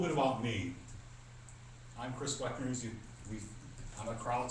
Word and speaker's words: Wechner: I'm Chris Weckner. I'm a crowd, so I spell my name funny. It's H. Say it like K's. But if you call me Weckner, I'll know exactly what you mean.